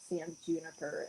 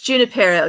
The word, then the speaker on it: Junipero: knew going to sand i keep saying sam juniper i think it's santa it's junipero yeah i had to say